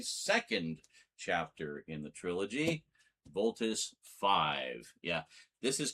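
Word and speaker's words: Voltus V: Voltus 5. Yeah, this is Combatler V. The V is pronounced as a V. This is Voltus 5. The V is pronounced as a five.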